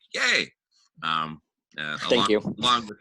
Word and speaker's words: Ye: by the way yay his name is pronounced yay like yay um thank you long